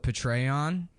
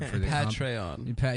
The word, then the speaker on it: Patreon: the patreon I said I used to call it betray on like General patreon yeah that's how I thought you pronounced it and then somebody laughed at me and I was like